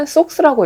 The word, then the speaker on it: SOXX: 미국 반도체 산업을 대표하는 ETF는 SOX라고 읽죠. SOXX 이 상품인데요.